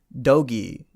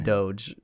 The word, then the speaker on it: Doge: guru at the time he pronounced it dogi and i thought that that cannot be right it has to be doge dogi sounds [ __